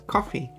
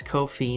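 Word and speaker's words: Ko-fi: Um, anyone is willing to give uh I thought it was pronounced as coffee. Yes, some say coffee. Um, but it is by the creators themselves has said that it is it rhymes basically it's no fee. So, it's Kofi, no fee.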